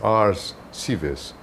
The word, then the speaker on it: Arscives: Oh, in Portuguese, which is, I tend to think that it's very close to Latin. It's ars civis. Ars being art and civis being city.